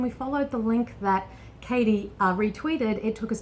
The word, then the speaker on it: Kady: we got wrong was we mispronounced your name we were saying caddy and it's Katie so Katie and Katie's